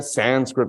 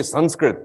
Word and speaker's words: Sanskrit: In fact, when people say Sanskrit, you're not pronouncing it correctly, you must say Sanskrit. Then I say to them, well, now you're making me pronounce an English word with an Indian accent.